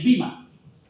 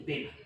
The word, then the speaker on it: bema: Esto tiene una palabra griega que es el bima. Perdón, disculpen. No es el bima, es el bema. Lo que pasa es que se pronuncia bima, pero es el bema.